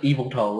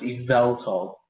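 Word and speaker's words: Yveltal: pronunciation like pinpoint like the point that's meant to be like pronounced the hardest is the V so it's not just evil toll it's eval yeah and it's zerus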